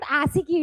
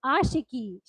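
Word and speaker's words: Aashiqui: It is not Asiki, it is Ashiki.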